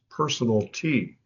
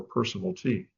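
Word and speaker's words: personalty: Another word besides channel is personal T and that's how it's pronounced personal T. If you have a electric range in your oven in your kitchen that's considered personal property. It's channel or personal T.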